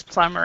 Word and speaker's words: plumber: exactly silent silent yeah yeah so it's it's pronounced like this plumber and I think uh it's a very common